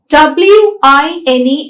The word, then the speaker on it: wine: both these lips are involved so whenever we pronounce verb we have to round the lips w i n e is wine whereas v i n e is